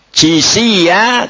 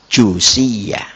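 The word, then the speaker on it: جثيا: "Jithiya," sebagian orang membacanya dengan damma, "Jushiya." " Jithiya" dengan kasra pada 'jim'. " Jushiya" dengan damma pada 'jim'.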